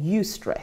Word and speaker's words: eustress: good stress, is called eustress. So that's E-U stress, eustress okay. is pronounced.